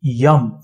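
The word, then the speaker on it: यं: to the topmost chakra the bee Mantra is Yum for the lowest one yum y a m yum second it is w v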